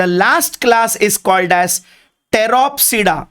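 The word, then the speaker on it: Pteropsida: ठीक है, एंड the last class is called as टेरोप्सिडा। Again P silent, इसे कहते हैं टेरोप्सिडा।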